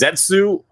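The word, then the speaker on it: 舌: but then saying that the Japanese pronunciation for it is Zetsu, which literally translates to tongue, is it still means it has to be something Gavu related.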